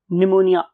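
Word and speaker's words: pneumonia: हम इसमें पी को साइलेंट रखते हैं, लेकिन जब लिखेंगे तो प्न्यूमोनिया लिखेंगे। ये मैंने इसलिए बोला है ताकि आप स्पेल ना मिस कर दे। प्न्यूमोनिया, निमोनिया बोलते हैं इसे।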